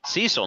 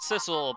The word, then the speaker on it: Sissel: Cecil, now that's a name for a hero. Yeah, I always pronounce it Sissel because we have a character named Missile, and Missile rhymes with Sissel.